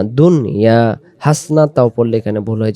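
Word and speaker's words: حَسَنَةً: হাসনা তাও পড়লে এখানে ভুল হয়ে যাবে। আখিরাতে বলি, এখানে আ এ গালিব। হাসনা তাও না, হাসানা তাও।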